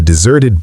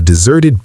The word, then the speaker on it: desert: The stress shifts to the second syllable, zert.